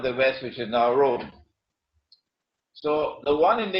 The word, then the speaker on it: Rum: It is pronounced as R-O-O-M, Rome, but the Arabic word Rome is, it describes Eastern Christianity.